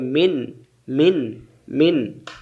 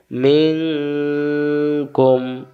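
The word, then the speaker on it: منكم: তাহলে উচ্চারণ হবে মিন নুন সাকিনের বাম পাশে কাফ অক্ষর পাইলে নুন সাকিন গোপন করে পড়তে হয় একটা অনুষ্কার চিহ্ন আছে বাংলায় অনুস্কার যেখানে নুন সাকিন গোপন হবে সেখানে কাফেশ কু কু মিলবে মিম এর সাথে কুম তাহলে উচ্চারণ হল কি মিন কুম মিন কুম এটা আতুম আর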